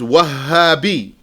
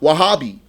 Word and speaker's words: وهابي: So a lot of people will just say it without the shadda. They'll just say Wahhabi. Or they might say Wahhabi. Ha. They say ha. Wahhabi. So proper pronunciation is Wahhabi. With a shadda on the ha.